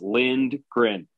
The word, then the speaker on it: Lindgren: It's not even on the pronunciation guide because it is as it sounds, Lindgren.